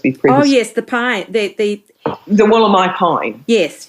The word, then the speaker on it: Wollombi: But I wasn't actually sure how you pronounced your town's name. Wollombi, is it? Wollombi.